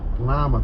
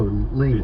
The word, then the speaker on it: Lima: I mean, what country is Lima the capital of? It's actually pronounced a little differently. Is it? Oh, Lima. It's Lima.